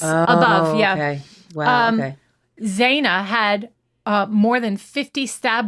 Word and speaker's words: Xana: It is Zaina. It's pronounced like a Z.